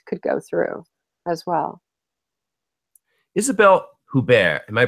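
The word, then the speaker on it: Isabelle Huppert: know Hugh Grant could go through as well Isabelle hubar am my pronouncing her name correctly you are she um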